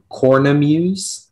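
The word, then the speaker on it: cornemuse: of the information yes the word is cornum use that's the only pronunciation it's a noun it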